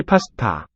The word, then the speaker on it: 파스타: 김치 파스타, Kimchi pasta. So these ones, 파스타, first and last syllable here, pa, ta, are aspirates. They have a lot of breath coming out with the stops.